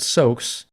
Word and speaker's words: Zos: While you're in Zos, pronounced soaks, you've got to have a firm grasp on your own identity, at least if you want to keep it.